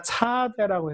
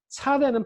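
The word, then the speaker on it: צ: 자, 그 다음에 요거는 이름은 제가 차대라고 해서 쌍지읒으로 썼지만 요것도 S 발음의 목구멍 소리, 목에서 나는 소리, 쩌! 이런 발음이에요. 쩌!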